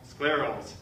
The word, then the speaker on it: scleral: give you a hint it rhymes with Miracle at least my patients say rhymes with Miracle sclerals scleral rhymes with Miracle